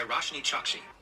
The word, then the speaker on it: Roshni Chokshi: more upon a time a novella written by roshni chokshi oh my god i am so sorry like